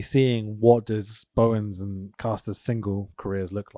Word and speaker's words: Caster: But I'm already seeing what does Bowens and Caster's single careers look like. Yeah. Caster, I should say. That's how he pronounces it.